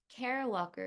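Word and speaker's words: Kara Walker: and of stasis and of uncertainty l so Cara Walker is the uh proper way you pronounce the artist's name Cara Walker is a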